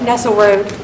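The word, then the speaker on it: Nesselroad: All right, so is it pronounced Nessel Road, Nessel Rod? Nessel Road. Road.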